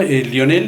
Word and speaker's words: Lionel: Uno, Lionel es inglés. Lionel. Exacto. En inglés, sí, yo no, estudié mucho inglés, pero una pronunciación malísima. Ajá. Lionel. Ajá. Como Lionel Richie.